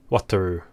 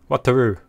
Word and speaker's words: Wataru: Some of the fan channels still say Wataru. Wataru. Wataru Endo. Wataru. Rooney. The do is a weird combination between Lu and Ru.